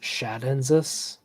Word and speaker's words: tchadensis: Who Why the T, though? I don't know. Oh, because otherwise you could pronounce it as Shadensis with Latin, I think. Or I think. I might be pulling that out of my butt. But it's to help with the pronunciation.